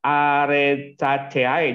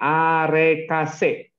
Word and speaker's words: arecaceae: lain adalah famili arecaceae Jangan dibaca arecaceae jangan ya famili arecaceae contohnya adalah pohon kelapa